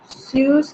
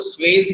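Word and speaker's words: Suez: अब वो जो कैनाल बनी, what is the name of that canal, स्यूज canal. स्यूज canal, ठीक है। आपको स्वेज भी पढ़ने को मिलेगा, according two spelling you can pronounce it एज स्वेज।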